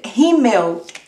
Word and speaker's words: Rímel: Mascara heißt Rímel. Rímel. Das ist schwierig. Rímel. Rímel? Rímel. Rímel. Rímel. Ja, das Akzent ist in I. Rímel. Rímel. Rímel. Rímel. Ja, am Ende L spricht man wie U.